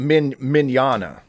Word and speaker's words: Mignogna: Well, the one I sent you, and I blank on the pronunciation of his name, unfortunately, so you're going to have to say it. But, it's Mignogna.